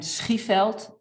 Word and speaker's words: Schieveld: Well, it is Eikelenboom, like Eikelenboom. and Schieveld.